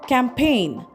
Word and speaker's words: campaign: The next word we have is campaign spelled as C A M P A I G N.